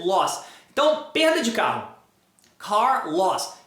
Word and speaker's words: Carlos: Car, loss, car loss, Carlos. Carlos. Aí você termina, tira o loss ali, ó, o Carl. Carl, Carlos, Carl, Carl.